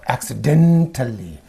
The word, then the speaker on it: accidental: syllable you say accident when it is used as an adjective you say accidental accident accidental accidentally in